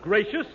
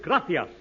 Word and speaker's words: gracias: No, no, no, not gracious. That word is gracias. You see, in Spanish, the C is pronounced th gracias.